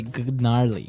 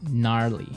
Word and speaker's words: gnarly: so an interesting word it's spelled g n a r l e y okay so but you don't say gnarly no you say gnarly yep and a related